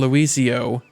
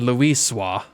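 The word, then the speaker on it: Louisoix: Archon Luisio may well have been able to shed light upon these mysteries. Or, they pronounced it Archon Luiswa, may have well been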